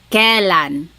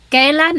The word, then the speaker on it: kailan: You might hear some people say kailan. Sounds like an E, but it's technically spelled with an AI. Kailan ang blank.